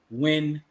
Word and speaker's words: Yuen: the author's name is Mike win which is spelled Yuen intrinsic Yeah man so